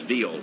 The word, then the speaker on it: Viola: Tom maintains the correct Latin American pronunciation for that last name is Viola. Well, it is. I mean, the I is pronounced as a hard E in Espanol, and so that's how you would say it in his homeland, Viola.